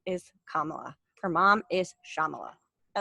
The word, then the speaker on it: Kamala: what's on everybody's mind kamala harris and joe biden right is her name really kamalu it's kamala her mom's name is shyamala